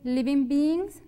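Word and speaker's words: living: con los seres vivos en inglés se dice li bingbing li bingbing hay para que se pongan la g como que muy suave porque si no vamos a estar diciendo otra palabra en inglés li bingbing muy bien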